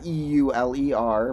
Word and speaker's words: Euler: the great Euler uh e-u-l-e-r but pronounced more like Euler and uh yeah his